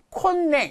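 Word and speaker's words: 今年: 근데 세금의 그 수입이 감소된다는 것을 염려했던 재무성은 콘냉, 이거 콘냉이라고 읽어요.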